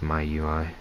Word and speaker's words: MIUI: rom my ui miui i'm pretty sure it's pronounced my ui yes i definitely suggest